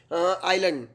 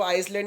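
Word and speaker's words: island: में आता है तो वहां पर एस का उच्चारण नहीं होता है जैसे किस प्रकार से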